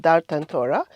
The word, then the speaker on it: Dar Tantora: One, as you rightly pronounced, Dar Tantora in Old Town, which is one of our heritage sites.